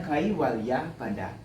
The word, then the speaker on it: Kaivalyapada: Nah, di sini ada huruf V. Dalam pembacaan sistem bahasa Sanskerta, V itu kita baca W. Jadi ini bacanya Kaivalyapada.